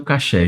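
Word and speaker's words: kosher: As palavras coxé e caché têm o mesmo significado, mas a pronúncia varia de acordo com a região. No hebraico israelense, a pronúncia é caché. Nos Estados Unidos, a pronúncia mais utilizada dos judeus que lá vivem, que foi a pronúncia coxé, é coxé. No Brasil, a pronúncia mais falada é coxé.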